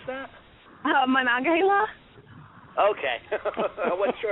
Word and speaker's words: Monongahela: And then Monongahela, is that how you pronounce that? Monongahela? Okay. I wasn't sure how to pronounce that. Monongahela should be coming out like probably next year.